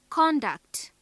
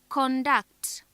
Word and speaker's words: conduct: If stress is on the second syllable, then it is a verb.